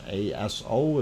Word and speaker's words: Aso: uh japan of course aso is the way it is spelled i do not mispronounce it or think it's something else but it is uh called aso and uh of course